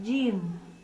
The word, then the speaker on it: Jin: O fogo é o Jim, e aqui vou acentuar um N no fim da palavra, Jin.